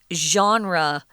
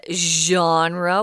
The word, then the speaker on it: genre: Well, here it says it's a game genre. This is a really strange word. Yes, we know. Genre. Why are you saying it like that? Because it's a French word. We pronounce it the way they do.